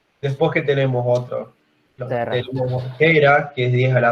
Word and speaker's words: tera: No, es tera, con T. No, o sea, Tega me refiero. Siempre lo había dicho así. No. Bueno, sí, a ver, pero no sé, quizás... Estera. Quizás una otra pronunciación de otro idioma, pero es tera en español, digamos.